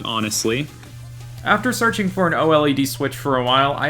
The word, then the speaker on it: OLED: Old. It's really old. This is an ancient Nintendo Switch. I know that's not how it's pronounced. The OLED.